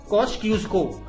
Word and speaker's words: Kosciuszko: अगर आपसे पूछे मेनलैंड ऑस्ट्रेलिया का सबसे ऊंचा पीक कौन सा है, मेनलैंड, ठीक है, वो है आपका माउंट कॉस्क्यूस्को, ठीक है, जो भी प्रोनाउंस करते हैं इसको देख लीजिए, आपका स्पेलिंग यही है, KOSCIUSZKO।